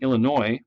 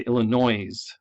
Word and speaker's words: Illinois: And then addition sounds like, you ever hear someone say, instead of saying Illinois, they say Illinois. Yes, that's the way it's spelled, but it's not how we say it.